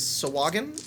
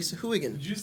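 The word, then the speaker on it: Sahuagin: hooligan lair that's right everybody this is so wagon or even pronounces it saw the saw Hogan but it is not according to dandy beyond is officially so who again everybody pronounces it either so wagon or sock wagon I watch the video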